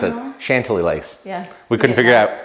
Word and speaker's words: Chantilly Lace: we went with chantilly lace that's how you pronounce it chantilly lace yeah we couldn't figure out how do you